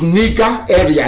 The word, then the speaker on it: Nigeria: The proper name is Niger area, Nigeria.